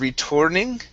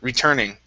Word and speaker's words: returning: one for you is returning instead of returning okay this is an er sound retur returning or returning okay good yeah everything else